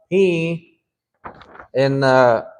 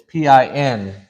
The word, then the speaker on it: pin: It's PIN, which a lot of people mispronounce because they say pin. Abba pinchi, and it doesn't sound right. But really, it's supposed to be like this. Abba pin.